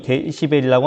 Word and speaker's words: dB: 그러면은 이 데시벨이라고 하는 단위가 어떤 건지. 자, 이 dB라고 쓰고 데시벨이라고 읽는데요.